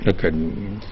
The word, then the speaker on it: academy: Academy. You have academic. So you have academy. The K part is stressed, then you have academic, the D part is stressed, then you have academician, the mission part is stressed.